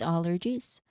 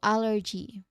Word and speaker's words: allergy: Now, pronunciationwise, you emphasize the first syllable. Al again, al. So, allergies. Again, allergies. You say it like that. Allergies. One more time. Allergies. Okay. You also use the J sound there. And the last part, that one. Yeah, that's a J sound. Letter J sound. And then there's a short E sound at at the ending.